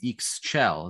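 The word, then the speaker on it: Ixchel: uh divinities um you have a relationship with eeks chell is that correct is that how you pronounce her name yes yeah reading about her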